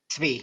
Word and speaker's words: Sabbatai Zevi: Is it Sabbatai Zevi. Sabbatai Zvi? Zvi, yeah. Okay, Zvi. TZVI. Sabbatai Zevi.